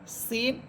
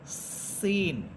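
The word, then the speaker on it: س: আপনাকে আকার ছাড়াই পড়তে হবে এরপরে হরফ যা সিন সদ এই তিনটা হরফের মাখরাজ এক অর্থাৎ জিহ্বার আগা সামনের নিচের দুই দাতের আগার সাথে লাগাবেন আমরা কিন্তু জালেরটা পড়েছিলাম উপর উপরের দুই দাতের আগার সাথে আর যা সিন সদ এই তিনটা হরফ নিচের দুই দাতের আগার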